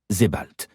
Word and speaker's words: Sebald: Se demande Julian tout en avouant que le nom lui est en effet inconnu, d'autant plus qu'Edward Avon l'a prononcé à l'allemande, Sebald.